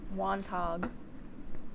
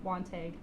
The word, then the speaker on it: Wantagh: Wantagh. Kate? I'll go Wantagh. Ooh. Okay. Wantagh. Switching it up. Oh. Wantagh. Honestly, Yeah, probably should have gotten that The one. G. G is silent.